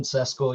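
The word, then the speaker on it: Šeško: Salzburg yeah Benjamin uh cesco is that how you pronounce Benjamin cesco yeah that's it what'd you make of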